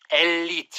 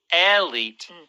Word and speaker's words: elite: And we do say in Korean as well, elite, right? Elite. But there is a slight pronunciation difference. That first vowel is not elite. It's more like Elite.